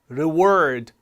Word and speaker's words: reward: 보통 어떻게 발음 하시나요 RW R 하면 reward reward라고 발하는데요 사실은 뒤에 A 모음이 스트레스를 받습니다 앞에이가 아니라 그래서가 올라가니까 앞에가 아까 어 법칙이 적용이 돼서 reward reward 이렇게 발음이 될 수 있어요 reward 물론 가능하고요 들어보실래요